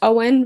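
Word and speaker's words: Eoin: E O I N, which is apparently to my research pronounced Owen.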